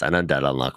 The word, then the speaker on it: Undead Unluck: And it's called Undead Plus Unluck, but the plus is silent.